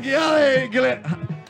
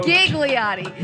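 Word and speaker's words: Ghigliotti: We have Gigliotti. We're messing with your name. Gigliotti. I was right. I said it right, and you told me I pronounced it wrong You yesterday. kept pronouncing the H.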